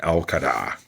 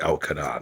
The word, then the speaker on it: al-Qaeda: isis the taliban and al qaeda that's right it's pronounced el cada not al-qaeda well now we have